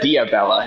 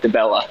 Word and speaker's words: Dibella: I read it as Diabella instead of Dibella.